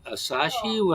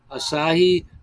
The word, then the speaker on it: Asahi: it's um I bought this and that uh asashi how you pronounce that Japanese Asahi that was good too and I gotta and